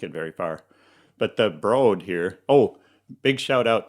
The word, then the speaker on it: Broad: And they'll judge you in Los Angeles if you say the Broad, like Broadway. The Broad.